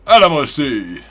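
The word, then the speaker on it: Alamo Sea: Chiliad Bay right here, Mount Chiliad, Alamosi, or Alamosi, like Maxi taught me I should pronounce it like.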